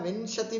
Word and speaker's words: विंशति: उच्चारण में ध्यान दिया, विंशति भी नहीं बोलना है, विंशति भी नहीं बोलना है। विंशति ञ का उच्चारण आना चाहिए।